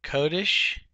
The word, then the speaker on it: Kodesh: This comes from the word Kodesh. See, the accent is on the first syllable here. A lot of people say Ruach Ha Kodesh, putting the accent on